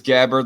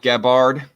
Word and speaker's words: Gabbard: It's just like anybody who pronounces Gabbard like Gabbard.